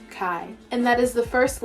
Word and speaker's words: chi: is actually the greek letter chi which is pronounced chi and that is the first letter of the